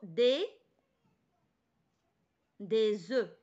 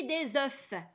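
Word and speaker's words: œufs: الوغ ان نوف كنطقوا هاد الاف، ولكن ملي كتكون في الجمع ما تنطقوش ديك الاف تنقولوا دي زو بلا اف دي زو ماشي دي زوف.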